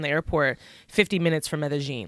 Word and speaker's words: Medellín: It's spelled like Medellín, but it's pronounced Medellín. Yes. So it's kind of hard to like say Medellín. You gotta have that little Medellín. But like soon if you're